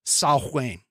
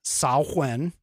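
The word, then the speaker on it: Samhain: is spelled s-a-m-h-a-i-n and it is a Gaelic word and again I'm going to pronounce it it's saw when okay which in some cases some historians believe that sauwen actually kind of morphed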